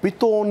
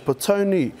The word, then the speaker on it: Petone: Whanganui is known as 'Wonger-nui' and Pito-one known as Petone.